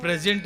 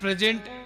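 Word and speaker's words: present: वाले जानते हैं कि प्रेजेंट एक ऐसा शब्द है जिसके उच्चारण के भेद से अर्थ बदल जाता है स्पेलिंग सेम है एट प्रेजेंट एंड प्रेजेंटेड बाय हिम एक प्रेजेंट गिफ्ट एक प्रेजेंट वर्तमान सेम स्पेलिंग है उच्चारण थोड़ा सा स्ट्रेस पॉइंट बदल दीजिए एक पहले पर कर दीजिए एक सेकंड सिलेबल पर कर दीजिए अर्थ बदल जाएगा तो वर्तमान वर्तमान भी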